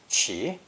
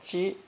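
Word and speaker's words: 奇: the ideogram for support, pronounced qi or ji. This must have been a rather peculiar sight because qi means strange or unusual, and ji refers to odd numbers.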